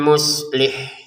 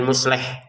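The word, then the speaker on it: مصلح: Minal muslih ya. Perhatikan muslih ya, jangan musleh.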